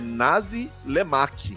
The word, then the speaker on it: nasi lemak: E o nome, a pronúncia talvez seja estranha, mas é isso, tá? É nasi lemak.